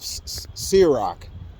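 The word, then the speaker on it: Sirach: book of man I like I I can't pronounce that word it's the book of serak Si I r a c h the whole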